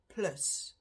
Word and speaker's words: plus: we'll start with Plus Plus which is how we pronounce it in Afrikaans spelled the same just the pronunciation is different then minus meanness same